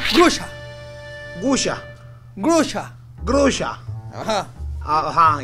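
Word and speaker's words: груша: Y se pronuncia grusha.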